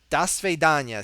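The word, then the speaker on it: до свидания: petersburg till then da svidanya see there I said it right because we're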